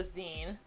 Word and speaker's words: zine: call it zone so zine z oh it's pronounced z well because it's like magazine right you don't say